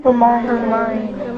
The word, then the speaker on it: Hermione: Hermione. Hermione is what it told us in book 4, didn't it?